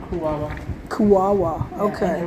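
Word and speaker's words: Kuaua: How did you pronounce the Native American's name? What was the The village is called Kuwawa.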